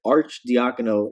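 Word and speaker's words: Arcidiacono: Ryan arch the Econo took me an entire season and looking up his Twitter account and watching the video of him pronouncing his last name on his Twitter account over but Archdeacon o is how you pronounce it he's back in the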